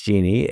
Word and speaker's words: Jeanne: again, your name is Jeanne. It's not spelled like Jeannie, but it is Jeannie, and Boyd Curtis, and they're spelled exactly like they sound.